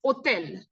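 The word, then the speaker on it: hôtel: French it's just called otel they don't pronounce h here it's silent so you'll say LEL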